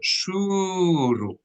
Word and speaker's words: shuruk: It is called shuruk. Shuruk. You can spell that SHEWREWQ.